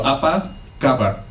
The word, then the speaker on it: apa kabar: So, apa kabar? Stresses in Indonesia are usually on the first syllable.